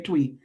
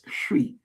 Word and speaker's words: Twi: So whenever you see TWI, I know you want to say Twi, but it's Shwi. That's the name of the language.